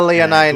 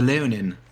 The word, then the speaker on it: Leonin: Oh, the Leonin. Leonin, there it is.